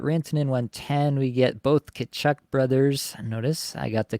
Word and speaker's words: Tkachuk: We get both Tkachuk brothers. Notice I got the Tkachuk phrasing correct. Not phrasing, pronunciation. That's the one we're going for. Got Tkachuk on the brain. I can say it correctly. Yeah, Tkachuk and Makar on the turn feels really nice.